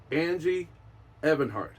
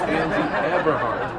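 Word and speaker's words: Angie Everhart: that is played by Angie Evart I said her name wrong it's Angie abart um she took it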